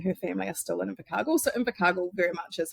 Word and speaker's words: Invercargill: and I believe you're all the way from Invercargill.